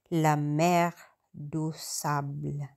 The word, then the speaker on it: La Mer de Sable: Ang pronunciation nga pala ng de apostrophe do kasi ang mga ang e dito mga guys like elephant is ang pronunciation nila dito is u yan kaya tinawag siyang lamerdusable ayan so dati rati